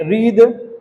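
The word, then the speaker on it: wreath: Are right wrong rap रीस्ट है ना rake रीद ये आप देख रहे हैं।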